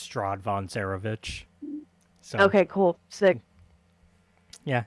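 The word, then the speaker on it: Strahd von Zarovich: uh how do you say that name it's strad Von cerovich so okay cool sick yeah it's our buddy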